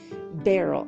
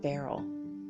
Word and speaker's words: beryl: have met women named Beryl i love this name it not Beryl be a r re l like roll out the barrel no not that barrel be e are why l it's a very interesting